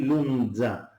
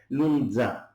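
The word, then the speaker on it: λούντζα: In Greek, in the Cypriot Greek, we call it lunza. We add a T. So it's N and T, lunza.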